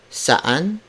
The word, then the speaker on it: saan: Saan ka galing. Saan is spelled as S-A-A-N.